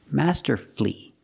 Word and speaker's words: masterfully: l l y and the stress is on the first syllable so the U is silent power flee merci flee